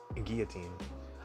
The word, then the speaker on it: Guillotine: with Guillotine and made a lot of people pronounce the L in Guillotine I'm not sure why